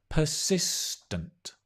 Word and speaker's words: persistent: Persistent. Notice the stress.